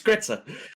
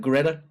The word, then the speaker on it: Gretza: Gretza, you didn't even say her name right. Hold on. It's Gretza, not Greta. Who?